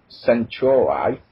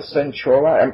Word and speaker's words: Centauri: If you played 1999's best 4-time strategy game, Sid Meier's Alpha Centauri, never heard of it, that will sound familiar.